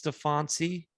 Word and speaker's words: Steffanci: That's just what I do, is mispronounce names. So it's Steffanci.